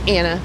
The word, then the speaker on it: Anna: Anna, rhymes with banana.